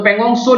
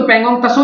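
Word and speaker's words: Pangong Tso: Valley, hot spring और पेंगोंग सो lake, इसको हिंदी में लिखेंगे तो पेंगोंग तसो लेक बोलते हैं, तसो। तो यहां पर इंग्लिश में बोलते हैं तो पेंगोंग सो लेक बोलते हैं, टी साइलेंट।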